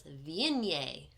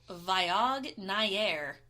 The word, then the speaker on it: Viognier: it is called a viennier I'm going to pronounce this properly it is not spelled like it sounds I read it's French and the best way